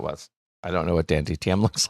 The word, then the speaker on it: DanTDM: recognize the other ones so yes i saw dante dtm if you said so but i didn't i didn't know who that was i don't know what dantdm looks like dan tdm sorry i keep saying